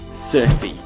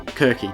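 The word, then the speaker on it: Circe: and the Olympians is Cersei or Kirky depending on how you pronounce the cities would have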